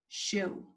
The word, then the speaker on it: shoe: shoo - - shoo now I know that shoe is not spelled with two letters but it only has two sounds this sound is what Shh this sound is ooh